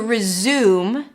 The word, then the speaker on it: resume: Resume, it's an R sound, then a Z, and then the U as in food. Resume, close it with an M.